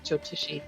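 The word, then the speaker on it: Jyotishi: Jotishi.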